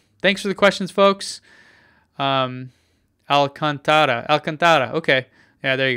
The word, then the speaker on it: Alcantara: there you go thanks for the questions folks Alcantara Elkin okay yeah there you go that's how